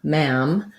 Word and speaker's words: ma'am: ma mom and ma ma'am ma'am has the a vow like black cat so it's more forward